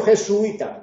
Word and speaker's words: jesuita: Pero es que yo pronuncio jesuita, tú puedes pronunciar como quieras, será un hiato en ese caso, pero no le pondrás acento.